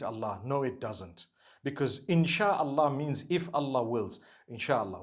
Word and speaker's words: inshallah: together inshallah inshallah but we know in the Arabic it's three separate words if Allah Wills right how do you say create Allah you would say is the it is the instruction right the command inchi means to create no one says inshi Allah they say insha Allah that's what it